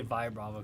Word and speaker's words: Vibrava: Vibrava. I just always say Vibrava because Okay, like vibration. Vibrate.